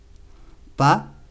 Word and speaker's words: pas: Pas se escribe con S al final, aunque no se pronuncia.